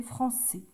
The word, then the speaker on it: français: CDI ça fait français le S ici on l'entend pas le s il va nous servir quand on va dire par exemple donc ça français ça s'écrit toujours comme ça le S on va l'entendre quand on va dire par exemple je suis français pour une fille donc quand ça va être je suis française ici on ajoutera juste un